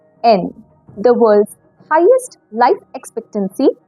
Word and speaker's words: yen: Even though it is written as yen, it is pronounced as en.